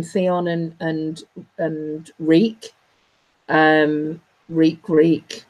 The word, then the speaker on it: Reek: and and reek reek reek rhymes with wheat and he thinks the